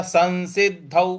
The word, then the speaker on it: संसिद्ध: से बोलेंगे संसिद्ध संसिद्ध देखिए स के ऊपर जो अनुस्वार है उसके आगे फिर दोबारा स लिखा है तो इस अनुस्वार का न में उच्चारण ले आएंगे तो हो जाएगा संसिद्ध और जो द है उस पर हमको आघात देना है तो संसिद्ध संसिद्ध इस प्रकार से बोलेंगे संसिद्ध कुरु नंदना कुरु